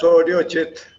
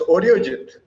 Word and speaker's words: Arijit: So please put your hands together to welcome Arijit. Let me get that right. Welcome Arijit or Arijit. Okay. Yeah, it's Audiojit. It's what? It's Audiojit. It's Arijit. Okay, I got the pronunciation right.